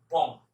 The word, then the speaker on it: bomb: একই রকম বম, মানে বোমা, যেটা BOMB, বি উচ্চারণ হবে বম।